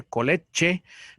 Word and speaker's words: college: Ahí sí se dan cuenta, sí se pronuncia al final. No se dice college, pero la G con la E al final suena como una SH, college, o una Che, college.